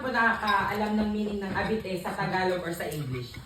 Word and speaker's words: habite: Tama po, habite po.